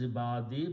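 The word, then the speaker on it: عبادي: here means Allah okay so when you combine these two together it will be ibadi it will be pronounced as ibadi because when you combine one dhamma goes and because of this yah which is the sound of e we pronounce this also ye so it is my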